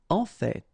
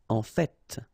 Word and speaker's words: en fait: En fait. So whether you pronounce the final T or not, you can hear both. En fait. En fait. En fait. I'd rather pronounce it personally.